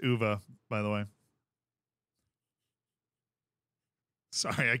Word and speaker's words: uva: what is UVA uh it means grapes in Spanish UA it's pronounced UA by the way sorry